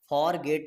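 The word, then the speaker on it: forget: यहां पर फॉरगेट नहीं बोलते हैं। फॉरगेट बोलते हैं। यानी कि यहां पर आर साइलेंट रहता है।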